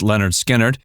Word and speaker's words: Lynyrd Skynyrd: band's first two albums pronounced Leonard Skynyrd and second helping which